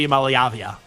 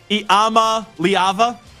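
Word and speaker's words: Iamaleava: cuz you got nicoo IM malavia I know I didn't say that right iama leava I believe is how you say Nico's last name um I'm going to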